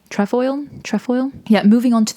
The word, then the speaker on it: Trefoil: And so the Adidas Trevo came into being.